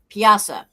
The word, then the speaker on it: Piasa: This bird, which actually is a pterodactyl type bird that the yeah, Native Americans had to fight, and it's a piasa, the piasa bird they call it.